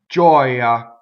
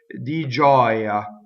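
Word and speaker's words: gioia: Giɔia. Notice that the word giɔia has a stressed vowel that's surrounded by semivowels, but it's an open O. Giɔia, ah. So together it's di giɔia in giɔia.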